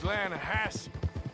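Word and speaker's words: Lannahechee: Yeah, but it's pronounced Lanahassee.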